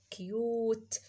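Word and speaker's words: cute: هيسكت هيخلي ده يقول يوه يبقى اوكي يوت كيوت كيوت يعني جميل او لطيف كيوت كيوت كيوت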